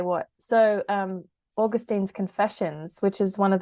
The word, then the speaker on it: Augustine: audio book of um how do you pronounce it there Augustine or Austine I think it's Augustine in the US isn't it yeah in